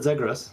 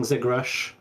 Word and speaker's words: zegres: So you pronounce it Zegrass. Like it was funny. Mark yesterday in yesterday's feature was saying Zegrash, which I don't know where he got the sh sound, but I kind of liked it.